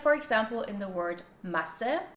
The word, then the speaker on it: Masse: Like for example in the word Masse, which is pronounced with a short vowel and it means mass, versus Maße, Maße, which has a long A sound and this means measured.